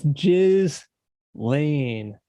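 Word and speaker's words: Ghislaine: It's Jiz. Lane. Kim. Jiz. So, you had to really pronounce that.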